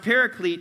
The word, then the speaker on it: Paraclete: You might have heard it pronounced paraclete, and here's what it means.